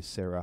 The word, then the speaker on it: Sarah: ooh ooh la la it's silent like Sarah sa ra h in english you don't say Sarah huh you just say Sarah but that hay is